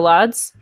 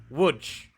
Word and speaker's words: Łódź: No, Lodz? Okay. Well, that's not how it's pronounced. Oh. It's pronounced Łódź. Łódź.